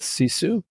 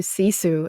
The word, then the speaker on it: sisu: she'll talk about her journey into and with cisu which will include her running a a 1500